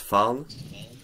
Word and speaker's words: fan: Since I live in Sweden, we use Swedish, and the word fan, pronounced fan, is meaning basically the name for the devil.